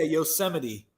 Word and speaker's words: Yosemite: Do you know how it's pronounced? Yeah, Yosemite.